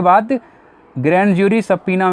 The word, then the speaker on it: subpoena: इसका प्रोनाउंसिएशन ध्यान रखना, सबपीना है, सबपीना, नॉट सबपोइना, सबपीना।